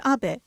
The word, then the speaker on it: Abe: My name is Abe, but in the United States, some people mistakenly pronounce my name as Abe, but that is not